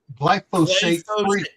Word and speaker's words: glyphosate: they might have been the um the gly glyphosate say it with me GL you and Joe